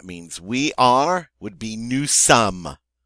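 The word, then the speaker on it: nous sommes: we are would be Newsome again the final s is not pronounced second-person plural talking to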